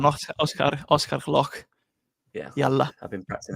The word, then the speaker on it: Gloukh: That is Oscar Gloukh, which I believe I've said right. Yeah. Yeah. Proper pronunciation, Oscar Gloukh.